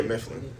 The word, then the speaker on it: Mifland: hear it is it mifflin if am i pronouncing that correct yeah mifflin now is there a uh meaning behind the